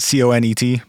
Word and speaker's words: Conet: CONET project. Conet. Yeah. Cool. Comet with an N.